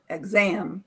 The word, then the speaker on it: exam: I want to tell you exam, not exam, but exam, second syllable, for pronunciation.